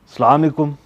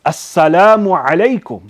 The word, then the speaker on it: assalamu alaikum: their Salaam but remember the way we give Salam is by saying assalamu alaikum not islamicum you understand by eating up half of the words what is this foreign properly pronounced assalamu alaikum but even if without